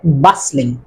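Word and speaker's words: bustling: সেটি হচ্ছে বাসলিং বাসলিং এখানে উচ্চারণটা হবে না সাইলেন্ট থাকবে বাসলিং মানে একেবারে ব্যস্ততম এলাকা মানে জনা এলাকা সেটি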